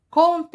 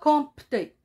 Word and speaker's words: compter: y à une lettre c'est la lettre p qui y est millette ça se prononce pas on dit content et on ne dit pas compter c'est faux comme tu es content